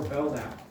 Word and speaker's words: Belknap: And then the last example we'll do one more is Secretary of War Belknap. K is silent.